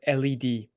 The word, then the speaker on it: lead: That would be spelled L-E-D. And there is another word, led, by which we are referring to the metal that's used to write with. We refill our pen pencils with lead. That's spelled L-E-A-D.